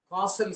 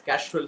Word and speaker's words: causal: In digital signal processing, there is a concept called causal system and non-causal system. In fact, most students pronounce it wrongly as casual system because we are very used to casual living.